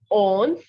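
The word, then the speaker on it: onze: on repeating after me okay so 11 is owns very good 12 is dues 13 trills 14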